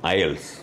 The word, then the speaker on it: IELTS: language testing system and we should uh pronounce it ielts i'll better go right